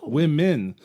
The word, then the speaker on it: womyn: men in the title, so they prefer to be called women, where it's WOMYN. Oh, women. So if you were to take, because it kind of rhymes with hymen.